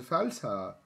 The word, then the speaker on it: Feldherr: You have to say it like a German. Feldherr.